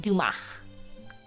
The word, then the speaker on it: Dumas: Oh, the S is silent. Dumach.